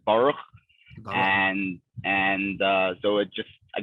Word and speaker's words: Baruch: The real way to pronounce it is Baruch.